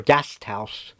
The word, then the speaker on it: Gasthaus: They pronounce it more or less guest house or Gasthaus.